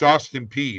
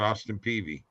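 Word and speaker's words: Austin Peay: And it's Austin P, not Austin Peavy. Sorry, Austin P. I don't know how to say it. It's like you got to go P.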